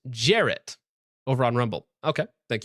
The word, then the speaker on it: Jarrett: Jarrett says it's pronounced Jarrett over on Rumble.